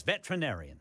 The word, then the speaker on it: veterinarian: saying that right yeah veterinarian veter I don't think you had that extra syllable I think you're right Chris I think it's veterinarian it's just like it's not veteran it's veteran that's that's